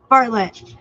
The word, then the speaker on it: Bartlett: Barnett? Dels. Bartlett.